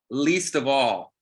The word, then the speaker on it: Leestavall: Least of all. And it's spelled LEESTAVALL.